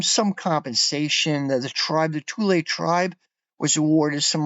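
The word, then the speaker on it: Thule: still there camp tulle it's pronounced tulle it's spelled t h u l e I was thle pronounced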